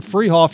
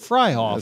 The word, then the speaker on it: Fryhoff: That sprinter, freshman sprinter over there at West Liberty, Morgan Freehoff, you said, is actually pronounced Fryhoff. Sorry about that, Morgan. So it's Morgan Fryhoff.